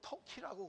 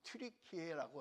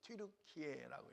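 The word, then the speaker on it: Türkiye: 터키라고 안 합니다. 트리키에라고 합니다. 터키라는 이름을 2022년부터 사용하지 않아요. 트류키에라는 이름으로 바꿔서 사용합니다. 왜냐면 어 터키라는이 명칭이에 칠면조도 터키라고 하는 거예요. 발음이 똑같대요. 칠면조. 그러니까 좀 그 인상이 안 좋았던 거예요. 발음이 똑같으니까. 그래서 트르키에라는 말로 2022년부터 바꿔서썼었습니다. 그래서 여러분 우리가 터키를 지금 부를 때는 이제 튜르키에라고 해요.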